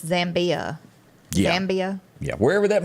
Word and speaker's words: Zambia: Wherever Zambini, how do you pronounce it? Zambia. I guess it was it's Zambia.